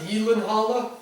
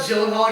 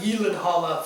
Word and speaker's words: Gyllenhaal: You know his name's actually pronounced Gyllenhaal. It's not Gyllenhaal.